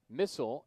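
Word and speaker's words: Misal: batted in this year missile m-i-s-a-l pronounced like the weapon runners on the corners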